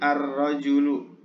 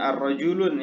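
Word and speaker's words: الرجل: Kemudian rajulun, ya, rajulun menjadi ar-rajulu. Ar-rajulu, bukan ar-rajulun ya, tapi menjadi ar-rajulu.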